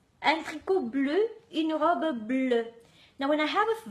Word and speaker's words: bleue: Un tricot bleu, une robe bleue. Now, when I have a vowel at the end, I'm not showing anything in pronunciation. E after a vowel doesn't really affect the pronunciation, but I still write that E at the end.